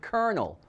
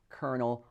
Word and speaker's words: colonel: we pronounce the word colonel as in the originator of kfc colonel harland sanders not to be mistaken for a kernel of corn one spelled c-o-l and